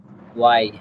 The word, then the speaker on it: why: হ্যাঁ ওয়াই হবে, কিন্তু আপনি যদি হোয়াই বলেন তাহলেও হবে, সমস্যা নেই। হোয়াই সব জায়গায় কয়, কিন্তু শুদ্ধ উচ্চারণ হবে ওয়াই।